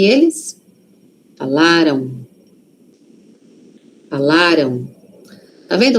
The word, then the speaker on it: falaram: Aqui a sílaba forte está no lá. Falaram. Falaram. Aquele M ali tem som de O? Aqui, ó. Falaram. Tem. Mas é um O muito suave. Por quê? Porque a sílaba forte está antes.